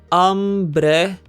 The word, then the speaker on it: hambre: Hambre has two syllables and ends with a vowel. We must therefore stress the second to last syllable, hambre.